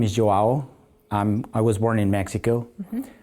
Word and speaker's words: João: The Portuguese people, or even the Brazilian people, the pronunciation is like João. Oh. So it's a little different. And Joao means Juan in Spanish, in John in English.